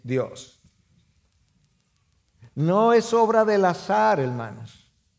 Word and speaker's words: azar: No es obra del azar, hermanos. El azar, para pronunciarlo con Z, no tiene control de nuestras vidas.